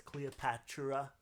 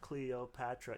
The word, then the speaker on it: Cleopatra: He says Cleopatra, Patra. Her name is 4 syllables. Cleopatra. Yeah, 4 syllables, not 5.